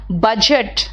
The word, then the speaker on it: बजट: बजट, BUDGET होता है, तो बजट में D साइलेंट होता है, लोग उसको कभी कभी गायब कर देते हैं, वो गलत है।